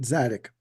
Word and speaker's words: Tzadik: Yeah, the T is silent. Zadik.